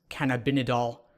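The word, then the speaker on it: cannabidiol: by using CBD oil which is I believe pronounced can have been a doll which is one of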